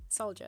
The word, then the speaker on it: soldier: Yeah, soldier. So I don't. It's the H is silent. It turns into a J. So it's soldier.